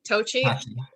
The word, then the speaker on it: Tocci: for help on pronunciation, Tocci. Is that correct, Sure. Tocci. Okay. I knew you were talking to me. I'm going for the Italian pronunciation.